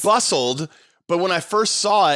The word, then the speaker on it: Bustld: It's bustld, but when I first saw it, you know how like some companies have like LTD, like limited?